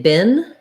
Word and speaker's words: bin: to look at because many people tend to mispronounce it as the same as bean which has the tense e sound in american english we say bin just like this word bin like garbage bin and we use the lax sound um i've been busy